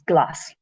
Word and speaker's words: glas: So the S with a broad vowel, A, O, U, is just a normal S, like you know in English. So this word here is glass.